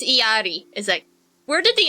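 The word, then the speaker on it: Illari: and alari or irari how do you even pronounce her name it's like there's an L there the L is silence it's iott is it where did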